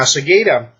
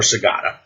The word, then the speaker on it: Secada: Now, Secada, or Secada, depending on how you want to pronounce it, is on the it is the city that leads into Arcadia.